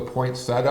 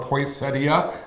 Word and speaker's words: poinsettia: And one of them I mentioned was the poinsettia or poinsettia, however you want to pronounce it.